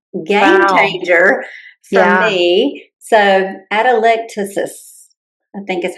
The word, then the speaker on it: atelectasis: I had, and let me see if I can say this right, atelectasis.